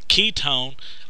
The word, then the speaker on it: ketone: way that I remember Ketone Ketone uh sounds like the word key it's almost sounds the